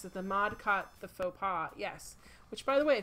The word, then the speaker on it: faux pas: Yeah, I used to call it fox paws. And I did not realize they were the same thing. I knew what a faux pas was, but when I would see it read, I would still read it as fox paws.